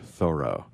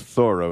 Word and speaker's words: Thoreau: It's all about Henry David Thoreau. That's Thoreau, not Thoreau, but that's a whole nother story.